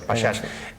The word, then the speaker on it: pachá: el final de los pashas. Un inciso, en castellano se dice pasha. Lo que sucede es que tenemos la influencia del francés, que para pronunciar pasha escribe pachá. Claro.